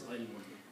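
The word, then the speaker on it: عِلْم: So is it ilmun or almun? Right now it says almu. Oh Almu. no, you're right. Achha, ilmu. Okay. The word is ilmun.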